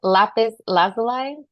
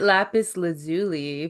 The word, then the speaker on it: lapis lazuli: to say this one lapis lazuli lazuli uh I've heard it lapis lazuli but I think either is fine I got to be honest I've heard it both ways honestly I like